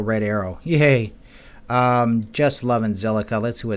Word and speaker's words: Zilliqa: So another one I'm keeping an eye on is Zilliqa, which is actually pronounced silica, as in silicon or silica dioxide, you know, like the little grains of sand, silicate.